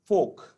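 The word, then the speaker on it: folk: एंड फोक, FOL के फोक, फोक माने होता लोग, तो इसमें भी L साइलेंट है, FOL के फोक। तो चॉक, टॉक, फोक में L साइलेंट है।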